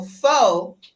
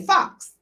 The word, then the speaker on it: faux: So faux, F-A-U-X is faux. The unknowledgeables say fox, just because it has an X on it. But it's faux.